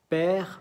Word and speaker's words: père: Père, mère, frère, dernière. Se ve que la última sílaba es una E que no se dice. No se dice re, ok, se dice r.